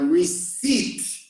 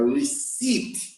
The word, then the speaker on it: receipt: And a receipt, I don't pronounce the P, a receipt is a proof that you paid something. So actually after paying, you ask for a receipt.